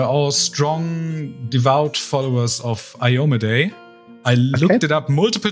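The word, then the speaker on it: Iomedae: strong devout followers of ioma day I looked it up multiple times that's how you pronounce her yeah there's been much discussion on the pronunciation but I believe I am a day is correct who is a mainly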